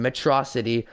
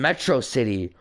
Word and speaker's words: Metro City: a day you and mitrocity shall not forget it's pronounced Metro City oh potato tomato tomato